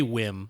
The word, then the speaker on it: WiiM: But they want us to say WiiM. That's how they say it.